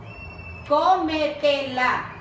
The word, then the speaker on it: cómetela: Cómetela. Co. Tilde en co.